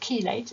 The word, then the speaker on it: chelate: Okay, it's pronounced chelate.